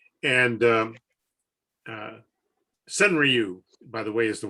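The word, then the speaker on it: senryu: and uh alan pizzarelli gave a presentation on cenra and um uh sun ryu by the way is the way you actually pronounce it but i've given up trying to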